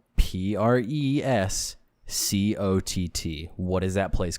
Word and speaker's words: Prescott: you think it's pronounced the name is spelled p-r-e-s-c-o-t-t what is that place called that's prescott my guy prashadi in arizona people get people from arizona specifically get pissed off when you call it prescott because it's pronounced prescott arizona you people you people are